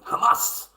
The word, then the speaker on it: Hamas: that's a Hamas Commander Hamas you got to say it properly Hamas whatever you know the accent they've got um but they look